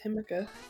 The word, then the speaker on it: jamaica: Yeah, I thought it was Himika. It would be because J's are pronounced like an H in Espanol.